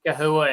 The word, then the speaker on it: chahoua: I I first heard it pronounced chahoua in 2006. Um and I think technically that's the correct way to say it. Um and in Latin Spanish, the the ch doesn't make a ch sound.